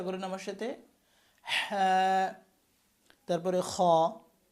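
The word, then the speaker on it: خ: তারপরে খ।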